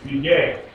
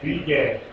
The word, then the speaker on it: Begad: You just put an E between them, and that way it's Begad. B-E-B and G-E-D, Gad, Begad, Begad.